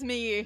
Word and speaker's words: Miu: an M meu Miu yes it's Miu me we just call it meu honestly pronounce yep you